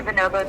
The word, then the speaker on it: Bonobos: - Thank you for calling the Bonobos Ninjas. - Bonobos, Bonobos. This is a Bonobos shirt, now I know how to say it.